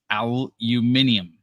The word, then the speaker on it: aluminium: The pronunciation for the British is aluminium.